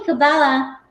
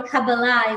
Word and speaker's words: kabbalah: about this so essentially cabala or kabbalah is the right way to say it is a wisdom and